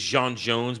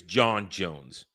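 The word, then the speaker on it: J'onn J'onzz: His real name is Jean Jones, but then when he gets turned, it's John Jones Mhm.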